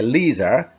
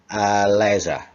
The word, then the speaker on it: leisure: There are two ways of pronouncing this word. You can say leisure, you can say leisure.